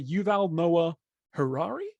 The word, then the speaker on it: Yuval Noah Harari: I was going to ask you how to pronounce the name I was going to say Yuval Noah Harari that was impressive Paddy that was very impressive